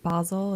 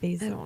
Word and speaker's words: Basel: And I think like there was Art Basle. Is that how you say it? Basil. It's Basel, I think.